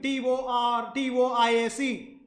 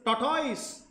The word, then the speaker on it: tortoise: I'm sure in your school, some of your schools would have taught you as tortoise. And some schools would have told you that the pronunciation of Tortoise is tortoise, and the E is silent there.